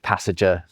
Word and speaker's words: passenger: But what happens in the Middle English period is people start putting this nasalized n sound where it previously wasn't.